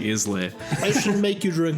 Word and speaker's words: Islay: Oh, okay, then that is Where do you, Islay. where do you think Yeah, I'm it's getting Islay. Islay from? Yeah, the fact that there's a silent S on there. Oh, yeah, then it's- It's S for silent.